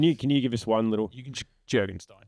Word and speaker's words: Jurgenstein: Can you Can you give us one little Jurgenstein? Jurgensstein.